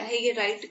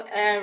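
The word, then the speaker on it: heir: इसका सबसेक्शन 2 कहता है, if person left is legal हायर या लीगल एयर, इसकी करेक्ट जो प्रोनाउंसिएशन होती है वो एयर होती है, लेकिन सबको इसको हेयर पड़ता है, कोई इसको हायर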